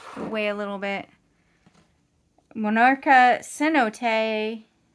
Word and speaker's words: cenote: a little bit monarcha cenote which is by the way not pronounced c note if you like me